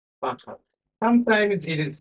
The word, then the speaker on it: Fahad: Fahad. That's a difficult name to pronounce. Fahad.